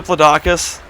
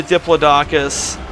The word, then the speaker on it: Diplodocus: it Equinox I've always I always pronounced a diplodocus they pronounce it Diplodocus I think they pronounced it that way because they're British like like a zebra